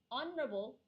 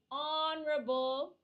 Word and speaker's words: honorable: n this case uh honorable honorable it starts with a H with a h but when you pronounce it it's it seems like it's start with the vowel o so we use n